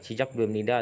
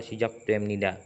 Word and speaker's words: 시작됩니다: Tapi ada dua cara baca. 시작됩니다 atau 시작됩니다 kayak gitu. Agak T sedikit sih kayak gitu.